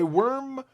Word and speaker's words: wyrm: of the worm and by worm that's spelled w-y-r-m okay worm many of you who plays